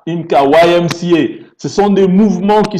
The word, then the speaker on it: YMCA: Même des grands centres sociaux, vous entendez parler chez nous on prononce IMCA, YMCA.